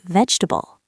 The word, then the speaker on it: vegetable: the word vegetable very slowly and carefully as vegetable. That is actually very understandable. Yes, because the spelling suggests that pronunciation, but in natural speech, people usually say vegetable.